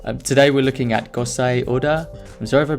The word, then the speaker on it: Gosei Oda: I said ability and today we're looking at course a order I'm so ever pronouncing that wrong really impressed with this guy's